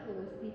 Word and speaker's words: ارسی: درایی که اون پشت هست بهشون میگن ارسی، تلفظ درستش ارسی هستن.